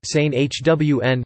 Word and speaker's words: San Juan: San Juan, San Hwn, Spanish pronunciation.